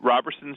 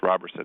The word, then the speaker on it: Roberson: Well, Roberson's just back. By the way, I heard last night he prefers that it's pronounced Robertson. He's not Roberson. It's spelled Roberson, but you don't pronounce it Roberson.